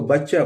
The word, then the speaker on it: butcher: और BUTCHER, इसको हम पढ़ते हैं, इसको पढ़ना तो चाहिए बुचड़, लेकिन बच्चा, ये है इसका सही प्रोनाउंसिएशन दोस्तों। इसको बुचड़ नहीं पढ़ते हैं, इसको बच्चा पढ़ते हैं, बच्चा।